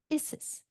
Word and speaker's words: Isis: How do you pronounce Isis? Isis.